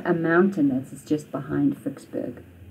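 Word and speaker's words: Ficksburg: We say in English Vicksburg, but in Afrikaans Vicksburg.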